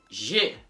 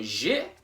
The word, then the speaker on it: j'ai: Not two syllables, but one. Not j'ai, but j'ai. Just one syllable.